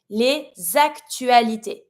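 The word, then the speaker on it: les actualités: Same thing when it comes to pronunciation, you know that every time we have a word that starts with a vowel, we link it. So here, leak, I'm pronouncing my s from le and I'm linking it with my a.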